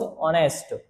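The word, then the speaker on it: honest: Lencho was ऑनेस्ट, H silent है, ऑनेस्ट पढ़ा जाएगा।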